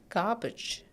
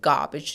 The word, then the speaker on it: garbage: and together it is garbage garbage we are not giving much stress to the letter R here this is garbage now not garbage or